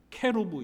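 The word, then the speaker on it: כרוב: 영어가 아니고 히브리어에 히브리어 히브리어로는 정확한 발음이 그룹이 아닙니다 케루브 있니다 케루브 따라해보실까요 케루브 케루브이 케브라 단어는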